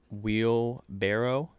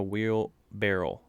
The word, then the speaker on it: wheelbarrow: something that day and it's pronounced wheel barrow it's not a wheel barrel did you know that